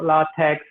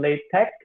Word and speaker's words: LaTeX: pronounce it latex or lar tags you might thirdly but the actual pronunciation by the founder or creator of it's called latex or large pack so it's with the k sound ending not like supposed to